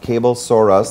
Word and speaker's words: Cablesaurus: a brand new sponsor pronounced cable saurus like dinosaur they have quality and